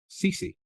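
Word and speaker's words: Cecy: And didn't we, as young readers, first have an adolescent love for the character of Cece? Am I pronouncing it the way others might be? Cece, yes.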